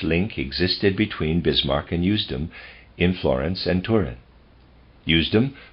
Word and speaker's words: Usedom: At one time, Bismarck had a connection with a certain Usedom, and that's, readers aside, that's spelled U-S-E-D-O-M, I'm going to pronounce that Usedom, end of readers aside, in Florence and Turin.